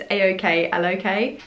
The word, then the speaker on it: Aoklok: I'll show you one here before I try and pronounce it. So it's Aoklok, and they kindly reached out to me via